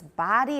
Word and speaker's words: body: so first of all pronunciation body a lot of you say buddy and it's not it sounds sort of like bodhi which is british okay but it's body and american height of the body